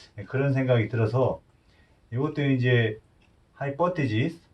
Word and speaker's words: hypothesis: 마찬가지로 예, 가설도 좀 힘들죠, 발음이. hypothesis. 예, 좀 틀리네요. 저혈압. 예, hypothesis.